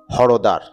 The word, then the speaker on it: হরিদ্বার: পৌরী ঘাটের এই সাইডে হরিদ্বার যার স্থানীয় উচ্চারণ হরদার ভারতের উত্তরাখন্ডের হরিদ্রার জেলার